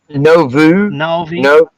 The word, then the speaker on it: Nauvoo: Can you pronounce it? Huvi or something? What was it? Nauvoo. Nauvoo. Yeah, something like that. Nauvoo, yeah. Nawvoo.